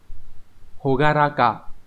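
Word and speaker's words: 朗らか: Sẽ đọc là hogaraka.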